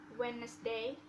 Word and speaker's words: Wednesday: one is letter d the letter d can be silent in words wednesday handsome sandwich and